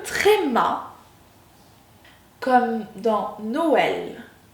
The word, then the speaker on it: Noël: Nous avons le E accent circonflexe qui se prononce également comme dans forêt, forêt. Nous avons le E tréma comme dans Noël, E tréma, Noël.